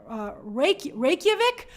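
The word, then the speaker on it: Reykjavík: In Reykjavik? I pronounced it correctly.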